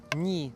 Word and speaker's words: 네: For example, 네, meaning you, can be pronounced like that, but most often people pronounce it as ni so that they can distinguish it from the other 네, which means me or I.